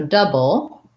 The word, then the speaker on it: double: just an uh sound so double first syllable stress and then we have the b l e which is a b plus a syllabic l so syllabical means i'm saying just the l sound and there's no vowel but it still functions as a syllable there is a little